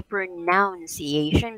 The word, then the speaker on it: pronunciation: pronunciation actually it's the pronunciation just surprise okay one more time pro another listen so n o n e is like none right so this is not noun when you say pronunciation because that is actually